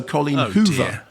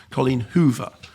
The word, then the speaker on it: Colleen Hoover: Also Colleen Hoover. Not Colleen Hoove. Colleen Hoover.